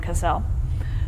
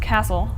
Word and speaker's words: Cassel: to be here in Cassel, which is not pronounced castle, and the locals are very, very picky about that.